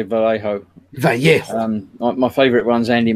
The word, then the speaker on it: Vallejo: Scale model vamp said it's Vallejo.